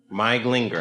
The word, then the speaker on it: Glinger: Glinger. I said it right. It's Hungarian.